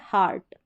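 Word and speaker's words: heart: ये एक्सेप्शन है, अपवाद है, ये स्पेलिंग रूल को फॉलो भी नहीं करती है। आप अलग से याद रखें इसको, क्या पढ़ेंगे, हार्ट, ई ए का उच्चारण यहाँ पर आ करके हो रहा है।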